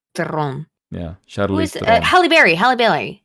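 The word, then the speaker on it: Theron: third Batman movie uh will tell me shice Theon no if you ever pronounce her name that way I will hit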